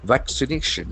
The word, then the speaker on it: vaccination: meanings are there despite vaccination v a c i n a t i o n sh endings vaccination vaccination we can see that the accent falls on third syllable vaccination vaccination we can